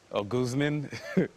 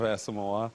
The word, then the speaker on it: Asomugha: The funniest one that I got, somebody called me um Ouzzman instead of Asamoa, you know, like what?